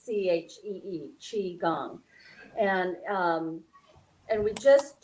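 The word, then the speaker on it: qigong: and chi gong is spelled q i but pronounce c-h-e-e chi gong and um and we just do a few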